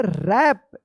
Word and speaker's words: wrap: रैप।